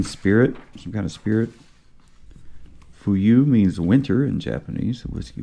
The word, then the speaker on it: Fuyu: way too many like we read the the word f-u-y-u it's all one word like we think it's fuyu but no it's fuyu welcome dear listener to the